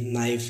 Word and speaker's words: knife: एन से पहले अगर के आए तो के साइलेंट होता है। जैसे एग्जांपल है KNEE, इसे पढ़ेंगे नी। KNIFE, नाइफ, इसे पढ़ेंगे नाइफ।